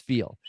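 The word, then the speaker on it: FE:AL: understand um well first of all what does feel stand for it's by the way uh for for those listening it's spelled Fe colon a l and it's pronounce feel so what does feel stand for so feel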